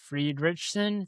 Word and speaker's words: Friedrichsen: So I want to get the name right because we're pronouncing it Friedrichsen. So it's Friedrichsen.